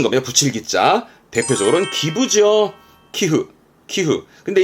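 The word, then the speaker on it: 寄付: 기흐.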